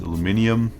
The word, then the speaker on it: aluminium: know it's properly pronounced aluminium and in German we also say aluminium but for some reason you know the Americans say aluminum and I'm going to